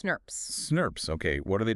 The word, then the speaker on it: snRNP: It's huge, composed of several protein RNA complexes called snRNPs, small nuclear ribonucleoproteins pronounced SNRPs.